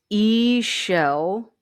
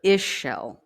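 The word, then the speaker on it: Ixchel: So it is E-shell or Ishel. That's how you pronounce that. E-shell or Ishel.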